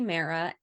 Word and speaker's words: Mehera: Okay, so I am at Mera, at KATIEMEHERA. The H is silent.